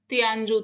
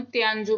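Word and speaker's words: 天竺: सिंधु को जो है इनकी प्रोनाउंसिएशन वो तियानजू थी।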